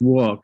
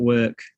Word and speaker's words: walk: so first of all it's pronounced walk not work you're almost saying work right um but it's